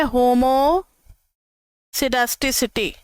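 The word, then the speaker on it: homoscedasticity: एलआर फ में है होमो सडा सिटी इसमें थोड़ा सा नाम अलग है होमो स्केड सिटी इसमें यह के जो है वह साइलेंट रहता है होमो सडा सिटी ठीक है अब आप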